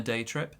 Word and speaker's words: day trip: Go on a day trip. Now, our pronunciation for this one, day trip. Big stress on day.